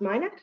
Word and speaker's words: MICNET: So Minet is spelled MICNET, but pronounced Minet.